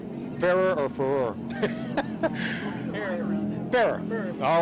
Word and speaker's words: Ferrer: Ferrer.